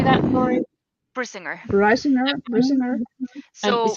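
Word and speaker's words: Brisingr: Brisinger.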